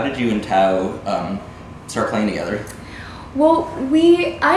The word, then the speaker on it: Thao: as part of a tour with the artist whose name is pronounced... Thao.